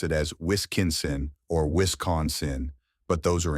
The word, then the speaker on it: Wisconsin: The correct way to say it is Wisconsin, with the emphasis on the second syllable con. Some people mistakenly pronounce it as Wisconsin or Wisconsin, but those are incorrect.